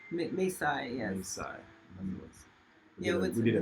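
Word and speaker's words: Mae Sai: Maysai. Maysai, yes.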